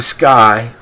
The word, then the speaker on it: SKYY: What makes it so different and unique is that it's a Sky. First generation. It is spelled SKYY.